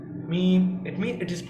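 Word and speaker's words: ميم: For example, आप जब meme को रीड करेंगे, मीम, तो यू are connecting your lips, you are merging your lips, so it is pronounced by lips.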